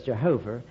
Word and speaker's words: Yahweh: h v h and since most english people don't know how to pronounce hebrew they usually say jehovah so when an englishman says jehovah the hebrew doesn't know what it means when a hebrew says yahweh the english doesn't it's